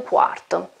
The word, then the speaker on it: quarto: When we have a Q, Q and U, the pronunciation is cu. Cu. Due e un quarto.